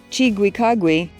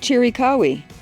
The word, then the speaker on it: Chiricahua: Later pronunciations included chiu kagui and chiri kawi.